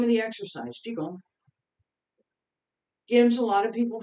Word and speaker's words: Qigong: So as I'm trying to bring together all of the sessions that I've already taught on the first set in Wudang Qigong, and all of the sets, in fact, the idea of how do we start learning?